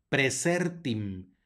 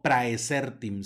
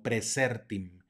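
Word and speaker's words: praesertim: chelum más adelante tenemos otro diptongo ae que suena como e presertin no preecertem sino presértim luego tenemos una doble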